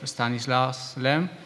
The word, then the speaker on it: Stanisław Lem: Remind you that we are celebrating the 10th anniversary of Stanislaus Lem. That's the correct pronunciation.